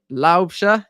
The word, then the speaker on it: Laubscher: as well with uh see our CEO Mac laobia yes I've said it I I just shot